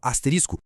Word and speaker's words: asterisco: Pois é, a forma correta é bem mais curta e simples. Asterisco. E esse caso mostra direitinho como a nossa língua é viva e se adapta. Aqui não é só uma troca, mas a adição de um som, o t.